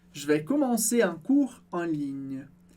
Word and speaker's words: vais: não lê também, como je vais. Eu não falo je vais ou je vais, é sem o S do final.